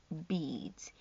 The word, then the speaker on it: beads: a box of 98 beads EA in this case is the long e sound e e e the a is silent beads for making we